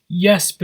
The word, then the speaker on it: Jesper: Yeah, Jesper. Yeah, even though it's spelled with a J.